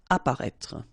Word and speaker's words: Apparaître: Okay, so exactly the same situation here with this circumflex. You don't pronounce it. Remember to write it, but you don't pronounce it. Apparaître.